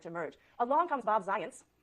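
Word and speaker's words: Zajonc: Along comes Bob Zients, rhymes with science.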